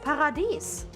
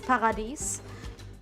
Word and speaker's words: Paradies: Paradies, actually. It's also basically spelled the same, but after the D, it's I-E-S. So, basically like the German word dies, but it's Paradies.